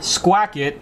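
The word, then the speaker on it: Squackett: Well, we're not only promoting Squacket, and I am pronouncing that right. Is that right? You are pronouncing it perfectly right, yeah.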